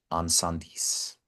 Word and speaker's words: Incendies: On Sandis. It's pronounced, spelled Right. Incendies.